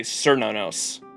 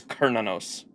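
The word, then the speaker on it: Cernunnos: I wanted to say cernonos because it's got a C but it's pronounced almost like it has a K. It's Kernanos or that's how I had been saying it throughout LB6.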